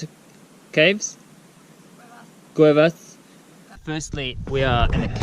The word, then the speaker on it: Cuevas: How do you pronounce it? Caves? Cuevas.